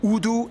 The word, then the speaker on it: Urdu: and taught in schools, used as lingua francas, Urdu and English. Yeah, that's right, it's pronounced Urdu, not Urdu.